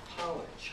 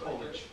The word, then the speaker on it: Polich: going to have college how do you say your name polish okay and uh he's gonna